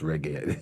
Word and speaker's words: reggae: to me, "Levi, and he couldn't even pronounce reggae. He said, Reggie.